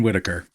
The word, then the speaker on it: Whitaker: H will never be revealed, but it is John Avery Whitaker who is doing this. Uh and the reason he's Mr. H is because the H is silent in Whitaker.